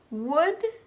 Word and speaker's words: would: Half, salmon, would, could, and should.